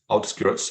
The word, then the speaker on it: outskirts: Vous le prononcez out, comme out, dehors. Allez, skirts, outskirts of Paris.